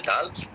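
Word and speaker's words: دال: আর কি, জিহ্বার আগা সামনের ওপরের দুই দাঁতের গোড়া হতে উচ্চারিত হয় এই যে দাল। দেখেন এখানে কিন্তু পিকচার দিয়ে দেখিয়ে দেওয়া হয়েছে যে এটা জিহ্বার আগা ওপরে বড় দুই দাঁতের গোড়ার সাথে লাগিয়ে উচ্চারণ করা হয়েছে, এবং দাল হরফটি পাতলা করিয়া 4 আলিফ টানিয়া পড়িতে হয়।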